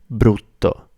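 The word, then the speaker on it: brutto: Bruto it's difficult to pronounce because of the r sound. So if you can't trill your tongue, this is tricky. But try and practice trilling your tongue.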